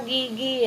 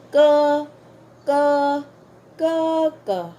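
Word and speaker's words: 哥哥: G Ayan k k hindi siya Gigi ha hindi siya hindi siya basahin as Gigi hindi kundi ko ko ko ko okay pwede niyo siyang isulat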